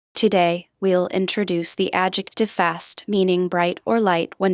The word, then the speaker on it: fast: Notice how fast is pronounced with a short a sound similar to the English word past.